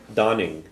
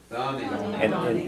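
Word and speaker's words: d'fhanfainn: would stay or wait Dawning Dawning and in this word um this word you don't pronounce the F okay one thing in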